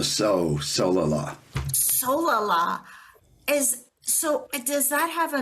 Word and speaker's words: Solala: Solala. Accent on the Solala.